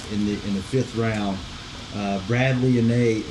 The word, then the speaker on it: Anae: Bradley Anae. Is it Anae? Is that am I pronouncing that sound like Nate? I think it's Anah.